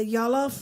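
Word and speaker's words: jollof: to make uh I'm not sure if I'm pronouncing it right. The the jalof rice.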